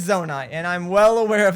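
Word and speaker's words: Zonai: the zone I'm although in that video I mispronounced it the entire time as the Suwanee because I wrote it incorrectly in my script but it's zona and I'm well aware of that thanks to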